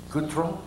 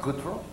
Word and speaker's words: Gautreaux: I can't pronounce it. Brandon, how do you say your last name? What? Gautreaux? Is that right, Gautreaux?